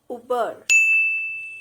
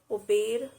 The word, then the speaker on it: Uber: the vehicles for hiring it's uber uber it's not ober it's uber the